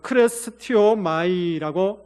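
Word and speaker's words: χρηστεύομαι: 어 크레스티오마이라고 어 발음합니다.이 이 온유함은요.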